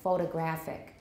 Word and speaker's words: photographic: form means photography and then we find the stress goes even further right for the adjective form photographic a photographic memory but